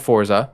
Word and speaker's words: Forza: about it xbox and how to say it so it's forza yeah um and then